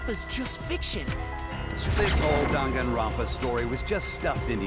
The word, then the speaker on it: Danganronpa: was dungeon fast is just fiction this whole danganronpa story was just stuffed into your memories that's how it's pronounced i guess i was pronouncing it right